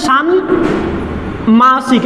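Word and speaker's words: ষাণ্মাসিক: মতো তালব্যস্ব হয়ে যাবে সান মাসিক এই যে মটা কিন্তু এখানে উচ্চারণ হবে দ্বিত্ব হবে না নয়ের সাথে ম ফলা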